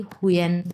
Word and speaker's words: hun: এবং পরেরটা আমি যদি বলি উয়েন দিয়ে যদি একটা লিখি, হুয়েন। হ্যাঁ, হুন হুন নাই, হুন বলতে কোনো কিছু নাই। আপনারা মনে করতে পারছেন এটা তো হুন, বাট হুন না, এটার উচ্চারণ হবে হুয়েন।